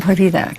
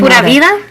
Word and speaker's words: Pura vida: Now, you used the term purida.